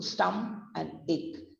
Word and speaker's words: stomach: Stomach नहीं बोलते हैं, हम बोलते हैं उसको stum and ick.